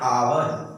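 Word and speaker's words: hour: आप देखिए आवर, एन आवर, एक से स्टार्ट हुआ है, यानी कि किससे स्टार्ट हुआ, कॉन्सोनेंट से स्टार्ट हुआ है, लेकिन पहला इसका क्या आ रहा है प्रोनाउंसिएशन, देखिए इसका पहला प्रोनाउंसिएशन आ रहा है और जब अ आ रहा है तो इसके लिए हम लोग एंड का प्रयोग करेंगे, ना कि ए का प्रयोग करेंगे।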